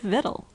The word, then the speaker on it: victual: Though the difference seems little, we say actual, but victual.